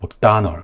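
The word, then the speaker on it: McDonald: 그래서 이 맥도날드를 다시 와보면은 맥도날드에서 드 발음은 없는 발음이었고, 그리고 발음을 찾아보면은 두 번째 음절에 강세가 있습니다.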